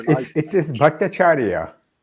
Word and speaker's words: Bhattacharya: You can probably pronounce it better than I can. It is Bhattacharya. Bhattacharya.